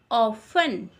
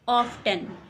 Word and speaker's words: often: T silent है इसलिए इसे बोलेंगे often, not often. Often.